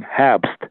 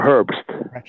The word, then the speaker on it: Herbst: it herbst that's german and it's pronounced habst in german or herbst and i i wrote